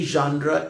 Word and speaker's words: genre: So you have to see very clearly what your literary genre is, what your literary genre is. Genre is the French pronunciation of the word genre.